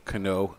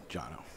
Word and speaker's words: Cano: saw the passing of Cano Ozjenner, the founder of CAO Cigars. He was 81 years old. Jono. Yeah. The C is pronounced as J.